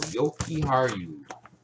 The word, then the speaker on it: Yokiharu: So it is the U at the end. Yeah, so that's the way it sounds. Somebody was telling me that it was with an A, pronounced with an A.